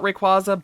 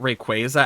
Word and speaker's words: Rayquaza: Like I I used to call it Ray um qua like I used to call it Rayquaza, but I started calling it Rayquaza after I started to understand that part of its name came from quazar because I'm a nerd.